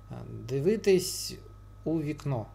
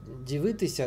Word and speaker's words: дивитись: То есть, допустим, если дальше после ся идет гласная, то она сокращается до си. Дивитись у вікно. Дивитись у вікно. Слитно произносится, во-первых, а во-вторых, вообще-то дивитися, да, а тут вот перед у она выпала и будет дивитись.